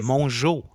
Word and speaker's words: Mongeau: It's Mongeau. Mongeau. Tana Mongeau. Mongeau. It's like Mon and Joe.